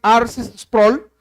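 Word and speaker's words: R. C. Sproul: a ese poderoso Salvador rc sproll o algunos lo pronuncian ars sproll dijo esto el infierno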